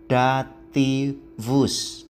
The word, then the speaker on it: dativus: akhiran pelengkap penyerta ini dinamai dativus ingat baik-baik pengucapannya dativus Sekarang mari kita perhatikan baik-baik beberapa catatan Ini